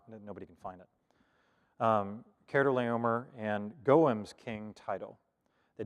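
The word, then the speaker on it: Chedorlaomer: king this is pronounced cardo leomer de keratoleomer the ch there is a hard pronunciation and it connects pretty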